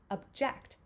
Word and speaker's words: object: then if you um shift it and the second syllable has the stress we have object and again that's the